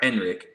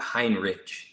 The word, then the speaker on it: Henrich: Hinrich no no way it's either H or Henrik it is not Hinrich it's don't give a